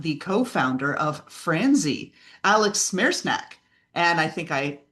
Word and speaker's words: Smereczniak: Today, we have got the co-founder of Franzy, Alex Smereczniak, and I think I mispronounced his name. Alex Smereczniak.